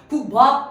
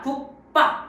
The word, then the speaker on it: 국밥: 기역을 밟고 으짜 된 소리로 발음이 된다는 거예요. 국밥 아니라 국밥 이렇게 발음이 된다는 거죠. 어떻습니까? 비읍이 쌍비읍 된 소리로 발음이 변했다.